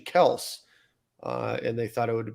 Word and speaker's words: Kelce: Their last name is actually Kels, and they thought it would be appropriate at the Super Bowl to say it's actually Kels and not Kelce.